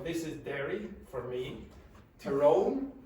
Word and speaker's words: Tyrone: is Da for me terone is the pronunciation of that some people say Tyrone fman this is ARA